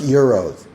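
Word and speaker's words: gyros: came back from Greece and she's like it's pronounced Euros yeah it's two Euros for a gyro which I thought was really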